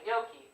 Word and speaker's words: gnocchi: I always said it like gnocchi. How do you say it? Same way, gnocchi.